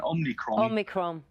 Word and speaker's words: Omicron: Omicron. Cron. Yeah, N on the end.